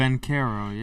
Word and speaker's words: Banchero: In the NBA, Orlando Banchero, is that the way you Paulo pronounce it? Banchero, yes.